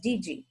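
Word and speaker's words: Didier: last name was d-d-a-d-i-d-i-e-r but in indian country that's pronounced dg and um i i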